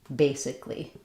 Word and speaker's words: basically: But in basically, we spell it with that extra vowel letter, but we don't use a vowel sound there. It's just three syllables.